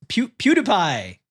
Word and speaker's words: PewDiePie: The second date, and I can know how to pronounce him now. It's PewDiePie.